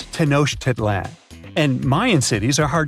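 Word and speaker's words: Tenochtitlan: It's Tenosh Tedlan. And Mayan cities are hard to pronounce too.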